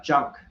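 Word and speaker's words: GUNC: uh and it's uh junk which is I kept calling it Gunk but it's pronounced junk uh and I guess that's because genome has a soft G so genome junk and I guess it's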